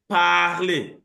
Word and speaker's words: parler: But if I say parler, the A there is longer.